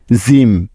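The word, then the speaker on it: gym: জি এরপরে ওয়াই আছে তার মানে জি এর পরিবর্তে এখানে নিতে হবে জেহেতু এটাই হলো নিয়ম তাই না সেজন্য নিলাম জ তারপরে ওয়াই আছে যার জন্য নিতে হবে ইকার কেননা ওয়াই বর্ণটা ইকারের জন্য বসে থাকে সুতরাং জি ওয়াই মিলে হলো জি এবং শেষে বাকি আছে এম যার জন্য নিতে হলো ম তাহলে জি ওয়াই এম মিলে হয়ে যাবে জিম কি বুঝতে পেরেছ তোমরা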